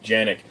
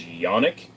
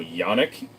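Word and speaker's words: Canik: I heard people say janic uh the actual correct pronunciation for canic is yonic uh the J in Turkish is y so yanic um but people do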